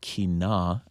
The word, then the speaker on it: Kina: This one's called Kina. Am I pronouncing that correctly?